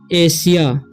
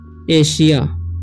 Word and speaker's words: Asia: ठीक है, तो आइए अगर आता है तो उसका उच्चारण क्या हो जाता है, तलाबे से हो जाता है। तो इसे पढ़ेंगे हम एशिया। क्या पढ़ेंगे, एशिया।